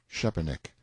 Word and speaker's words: Szczepanik: Young Szczepanik, Note 1, pronounced approximately Szczepanik; Mr.